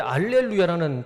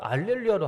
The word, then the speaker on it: 알렐루야: 그런데 그 라틴어에는 히읗 발음이 없다고 합니다. 그래서 할 못하고 할자를 알로 발음하게 된 겁니다. 그래서 제가 확실하진 않지만 그 카톨릭에서는 라틴어 성경을 정경으로 보기 때문에 할렐루야라고 하지 않고 알렐루야라고 한답니다.